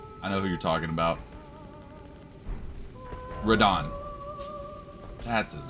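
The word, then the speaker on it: Radahn: Radon.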